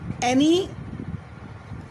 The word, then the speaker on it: Anne: ये एनी Frank की diary से लिया गया है और written by एन Frank, not एनी Frank, एन Frank, because E is silent hair.